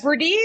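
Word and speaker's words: Hebrides: have inner and they have outer the herdes herdes yes who said that that was excellent again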